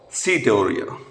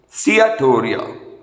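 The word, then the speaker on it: steatorrhoea: leads to fat malabsorption or setoria cyatoria that's the right pronunciation theater serum glutamic oxaloacetic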